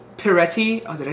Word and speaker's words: Peretti: Peretti. Oh, did I say it right? Oh, Peretti, yeah.